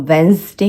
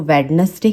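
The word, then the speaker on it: Wednesday: मैंने बहुत लोगों को सुना है वो वेंसडे को वेडनेसडे कहते हैं, वो ग्रैंड मदर कहते हैं, ग्रैंड फादर कहते हैं। आपको उसे ग्रैंड मदर, ग्रैंड फादर इस तरीके से बुलाना है क्योंकि डी इसमें साइलेंट होता है।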